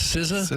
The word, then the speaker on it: SZA: Is this Siza? Yeah. St. Louis. Spelled Sza.